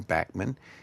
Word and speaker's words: Bachman: first around with Randy Bachman uh who pronounces his name Bachmann and Burton Cummings who's one of my favorite heroes.